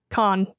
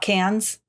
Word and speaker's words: Cannes: I know that it's pronounced Cannes or Cannes Film Festival. That's it. That's all I know. Not cans. No, it's not pretty con. I'm pretty certain that the S is silent.